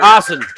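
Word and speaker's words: Aasen: A A S E N. Austin or Austin. Okay. Kind of like Austin mocker.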